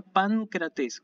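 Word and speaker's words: Παγκράτης: Así que esto se pronuncia pancrates con la N, ¿sí? Uno hace un sonido de N, pero lo tiene que escribir como gamma porque la presencia de la letra siguiente me obliga a hacer.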